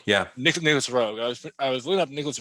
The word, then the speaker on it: Roeg: How do you pronounce his name? Nicholas Reg. Rogue, yeah. Nicholas Roeg.